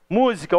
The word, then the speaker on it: música: Música ou música. O mu é a sílaba mais forte.